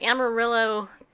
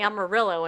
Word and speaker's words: Amarillo: so they don't know when two L's go together it sounds like a wife in Spanish really it's if this was a town in California they would be like pronouncing it like a wife sound I'm a real yeah I'm a real yeses though but they say they actually say Amarillo in Texas yeah the white folk